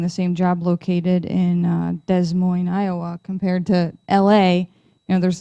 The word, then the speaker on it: Des Moines: Yeah, Christine, hopefully nobody's here from Des Moines. They hate it when you pronounce the S.